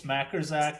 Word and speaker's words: Majkrzak: It's Majerzak, but it's spelled m a j k r z a k.